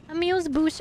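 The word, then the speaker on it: amuse-bouche: I lost am I lost that's a croquembouche amuse Bush or a muse is a single bite-sized I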